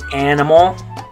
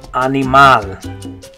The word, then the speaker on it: animal: Notice that this one's spelled exactly the same in Spanish, but the pronunciation is different. So in English we say animal. In Spanish, you're going to say animal.